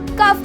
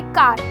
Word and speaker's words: car: अगर मैं बोलूँ CAR क्या होता है, आप बोलोगे कार, बट उसे हम बोलते हैं का, राइट?